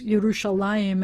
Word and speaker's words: Yerushalayim: Because the word is Yerushalayim, and everybody's going to pronounce it that way, and everybody apparently always had.